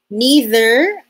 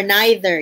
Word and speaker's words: neither: Neither or neither, you can pronounce it in any manner.